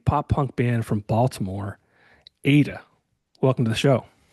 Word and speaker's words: AITA: Today I'm joined by a pop punk band from Baltimore, Ada. Welcome to the show. What's up? Hey yo. Now Ada is spelled AITA.